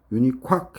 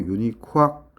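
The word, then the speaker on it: UNIQUAC: 이 유니코악은 그냥 합성어이기 때문에 쌤은 그냥 발음 나는 대로 재미나게 해서 그냥 외우는 거예요. 독일식 발음으로. 원래는 QUAC 이런 식으로 해야 되는데 그냥 유니콱 해도 되고 독일식 발음으로 유니콱 이렇게 하면 스펠링 안 까먹겠죠.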